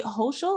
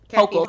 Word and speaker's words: Hochul: So our after midterm elections, they have determined, Miss Kathy Hochul, I think that's how you pronounce her name, who replaced Cuomo after he resigned amid all this. Hochul, sorry.